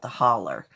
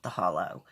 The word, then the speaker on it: The Hollow: It should be called The Holler, because that's how you pronounce it, not The Hollow.